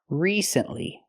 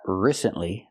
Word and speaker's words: recently: that we say recently we have to use a long e sound like green beans re recently not recently not the short I